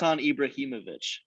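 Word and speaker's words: Ibrahimović: right i don't know ibrahimovic is that how you say it yeah that's the first time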